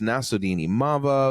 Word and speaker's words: Nassourdine Imavov: So the main event we had Jared Cannonier against Nassourdine Imavov.